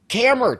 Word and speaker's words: Kammer: It is a huge, huge honor to be interviewing Chris Kammer today, right?